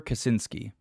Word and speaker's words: Kaczynski: try to pronounce this guy's last name. Theodore Kaczynski.